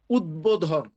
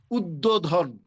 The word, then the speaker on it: উদ্বোধন: তাহলে সেই হিসাবে এখানে হওয়ার কথা ছিল উচ্চারণটা উদ্যোধন। কিন্তু উদ্বোধন হলো না। উদ্বোধন হলো কারণ হচ্ছে উদের সাথে বফলা এসেছে।